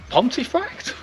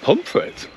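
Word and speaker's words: Pontefract: about this one uh pontif frct that is correct but how do the locals say it do you know I don't pit pum frit and what about this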